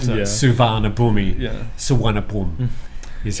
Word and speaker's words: Suvarnabhumi: Suvarnabhumi is how it's pronounced.